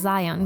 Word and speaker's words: Zion: stupid silly looking guy his name is Zeon well it's actually supposed to be pronounced Zion but to be be